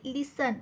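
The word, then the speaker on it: listen: टी खाली underline केली लिसन लिसन मध्ये टी चा उच्चार होत नाहीये टी खाली अंडरलाईन केली आहे राईम राईम मध्ये एच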